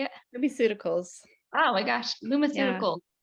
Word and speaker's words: LumiCeuticals: LumiCeuticals.